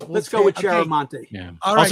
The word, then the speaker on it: Chiaramonte: Chiaramonte. Did I pronounce that right? You know, Brent said that you did, and I think it's acceptable. I mean, I grew up with Chiaramonte, okay?